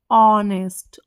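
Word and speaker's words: honest: blank eggs ठीक है अब देखो एच क्या है हमारा कॉन्सोनेंट है बट अब बोलो प्रोनाउंस करोगे जब इसकी जो प्रोनंसिएशन है वो क्या होगी ओ ऑनेस्ट ओ ओ क्या है हमारा हिंदी का स्वर है ना और ओ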